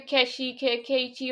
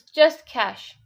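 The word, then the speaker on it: cache: Some people, yeah, that's how they pronounce clear the keshi or something. We don't say like that. No, it's not even keshi. It's cash. It's just cash.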